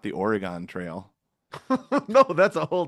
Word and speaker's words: Oregon: right Oregon, Oregon, Wisconsin.